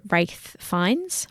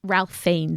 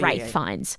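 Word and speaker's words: Ralph Fiennes: a whole topic on wraith fines Ralph fi is what people say his name as the guy who played Voldemort but it's wraith fines he is very well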